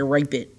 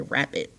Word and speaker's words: rapid: would become rapid and we don't say rape it no we say rapid move rapidly we don't